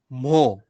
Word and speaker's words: mho: हैं ना OHM, या सीमेंस का एक दूसरा नाम भी है MHO, मो। ओहम के अपोजिट स्पेलिंग, उल्टा स्पेलिंग मो, बिकॉज वो एक दूसरे के रेसिप्रोकल है, तो उनके नाम भी ऐसे उल्टे करे गए हैं।